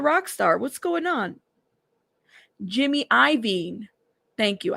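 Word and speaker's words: Jimmy Iovine: I thought it was Ivy. Why did I say I'm reading it how it's spelled? My bad. Jimmy Ivine. Jimmy Lavine. Jimmy Leavine. Jimmy Ivine. It's Ivine.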